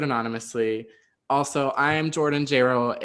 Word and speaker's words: Jayro: Also, I am Jordan Jayro. It rhymes with Jaylo. Don't fuck that up. It's 2 syllables.